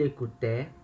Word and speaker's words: écoutait: Então, il écoutait, elle écoutait, on écoutait. Né? Ele escutava, ela escutava, a gente escutava. A terminação é um pouquinho diferente, né? Que é com t agora. Mas a pronúncia é igual.